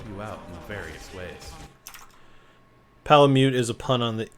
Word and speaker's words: Palamute: Canine buddy known as a palamute. Palamute. Apparently, I thought it was Palamute. So apparently, I was saying it wrong.